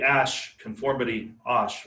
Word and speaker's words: Asch: So the Asch is how it's pronounced, conformity experiment was sort of a classic and definitely show up on your final exam.